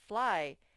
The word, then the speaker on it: fly: Fly. Sometimes the Y, actually most of the time, the Y at the end of a one-syllable word will make the I sound.